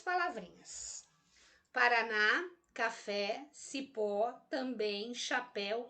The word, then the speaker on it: Paraná: Olha a palavra Paraná. Paraná termina em A, não termina em A? Olha só o que eu disse aqui nesse primeiro quadrinho. Eu vou acentuar as palavras oxítonas terminadas em A. Tá aqui, ó. Oxítona terminada em A. Leva acento gráfico.